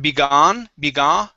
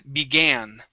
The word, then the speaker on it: began: okay this word here instead of begone it is began begin very good uh